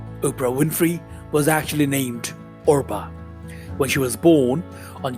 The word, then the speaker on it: Orpah: Winfrey was actually named Orpah when she was born on january 29th 1954 Orpah who are be aah taken from a biblical character in the Book of Ruth was often mispronounced as Oprah eventually the mispronunciation stuck